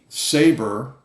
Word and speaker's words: Sabre: My absolute favorite go-to tool, okay, is Saber and it's spelled Sabre, pepper gel, not pepper spray.